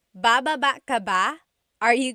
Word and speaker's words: baba: Then there's baba, Baba. Emphasis is on the second syllable.